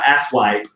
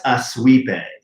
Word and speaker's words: Aswipe: He says, "Package for a Mr. and Mrs. Asswipe." And he's like, "That's Aswipe."